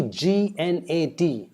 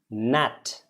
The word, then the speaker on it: gnat: When you see G-N-A-T, it's not gnat, it is nat. G is silent. Don't pronounce the G at all.